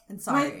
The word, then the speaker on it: Ansari: Yeah, I never Ansari. say his last name. It's like sorry, like okay. Indian. I'm sorry. And okay. Yeah. Sorry, like how Americans say sorry.